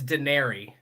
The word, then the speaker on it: Denari: I've ever asked it is it dinari or daenery officially how do you say it it's daenery it is daenery it's daenery yes because I've heard yes